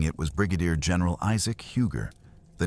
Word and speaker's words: Huger: Guarding it was Brigadier General Isaac Huger. The name is pronounced UG.